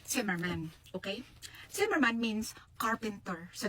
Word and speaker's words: Zimmermann: Ay it probably is a in German po ang pronunciation ng Zimmerman is simmerman.